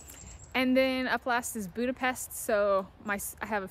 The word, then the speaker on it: Budapest: is all over the B but the true pronunciation is Budapest um people feel like slurring hungarians will pronounce